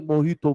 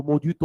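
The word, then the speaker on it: Mojito: लेके आ, नहीं मोहितो मोजितो ओदितो, अरे गप ला क्या बताऊँ? मोहितो तो स्पेलिंग में जे क्या कर रहा हूँ उधर, साइलेंट है तो लिखी मत ना, लिखेंगे मोजितो और पढ़ना, अरे मोहित तो, मतलब मेरा रूममेट था, हम उसका प्रमोट करेंगे।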